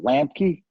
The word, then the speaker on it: Lambke: to screw it up it's a lamp key l am BKE lamp key that's what I always